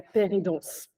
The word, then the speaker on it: pair-aidance: Donc, tout est essentiellement basé sur de la paire-et-danse. Donc, la paire-et-danse, ça s'écrit P-A-I-R et pas P-E-2-R, P-E-R-E. Enfin, c'est pas l'aide d'un père.